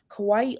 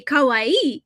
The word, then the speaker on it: kawaii: And if you say kawaii, it means cute. I did not know that. Okay. So, say say cute for me. Kawawaii. So, the accent goes on the last syllable.